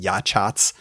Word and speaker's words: Yachats: Yachats, by the way, is spelled Yachats, but it's Yachats.